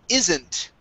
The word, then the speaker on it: isn't: Okay, instead of a long E sound, saying E, isn't. Okay, this is a short I. I, isn't. Isn't. Okay. Isn't. All right, now here you're saying E, isn't. Instead of E, it's I, isn't.